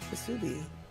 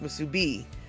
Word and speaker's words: Musubi: Okay, so sorry, Statter, if you want to sound like a local, then it's pronounced Musubi, with the emphasis on the B. Not the Musubi, but Musubi.